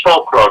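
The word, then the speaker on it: Foulk: Incorporated, 1911 Folk Road, F-O-U-L-K Road, and road is spelled R-D. No, it's really not, but you folks, it's Folk Road, not you folk road.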